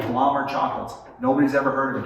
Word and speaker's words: Blommer: He was the 4th generation owner of Blommer is actually how it's said, chocolates.